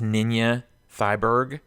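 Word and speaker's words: Ninja Thyberg: The director's name it's spelled Ninja, but I think it's Ninya Thyberg.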